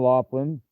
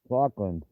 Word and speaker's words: Lachlan: I was calling him Laughlin, but that's not Lachlan. There he is. Lachlan.